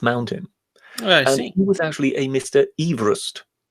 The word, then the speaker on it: Everest: those episodes but technically it's it should be pronounced Everest not Everest yeah I know but yeah but but yes